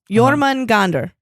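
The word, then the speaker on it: Jörmungandr: Jormungandr.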